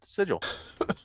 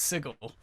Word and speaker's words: Sigil: a place in uh sigil yeah that's how they'll know you're uh a tourist it's pronounced sigel oh sigil right uh